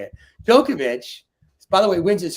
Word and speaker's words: Djokovic: how do I say his name Dover chick Djokovic that's why I can never say it Djokovic by the way wins his fourth U.S open